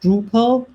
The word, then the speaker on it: Drupal: was finally um um released and um it's pronounced drupal and it comes from the dutch word drupal